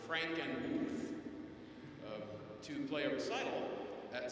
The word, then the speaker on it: Frankenmuth: Last January I was called up to Frankenmuth, Michigan, and up there it's pronounced Frankenmuth, to play a recital at St.